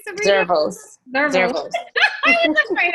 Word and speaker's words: Zervos: Zervos.